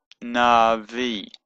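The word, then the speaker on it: נביא: it's of the sound so that's nah that's a there but because it's followed by a yard it becomes an e sound now V and the Aleph is silent but a kind of lengthens the the e Center just makes it a bit longer so it's Navi there doesn't mean that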